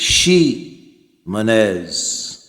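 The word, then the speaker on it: Ximénez: So Xim anz is she manz and there is much confusion concerning that but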